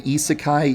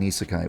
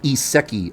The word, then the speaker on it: isekai: __ ] is in isekai what the I used to pronounce it ESI a a lot for a long time